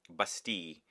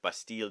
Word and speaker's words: Bastille: look at the name bastil uh that maybe the you know in English you would say that but in French it's basti and again I discovered